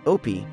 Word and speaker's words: Opie: My character's name, Opie, rhymes with dopey.